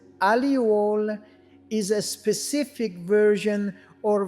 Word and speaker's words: allele: An allele pronounced as alluole is a specific version or variant of a gene.